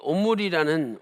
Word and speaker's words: 오므리: 그래서 오늘은 이 오므리라는 왕에 대해서 우리가 공부를 해보도록 하겠습니다. 자, 두 번째로 오므리의 이름의 그 뜻에 대해서 살펴보도록 하겠습니다. 히브리어로 이 오므리는 우리말 발음도 똑같이 오므리예요. 오므리.